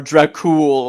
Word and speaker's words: Dracul: have, you're playing as Dracula or Dracul, whatever the fuck. Yeah, because adding that extra A is lame and gay. It's because Dracul is actually closer to the real pronunciation, Yeah, I but know, nobody but cares.